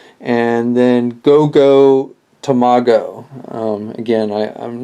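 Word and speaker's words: GoGo Tomago: no Jinger um I believe is how you pronounce his name and and then goo tomago um again I I'm not 100% on the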